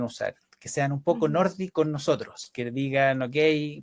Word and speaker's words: Nordy: siguiendo la pronunciación noruega, Nordi, como en la Nordi, Y, tal cual. no es la I latina.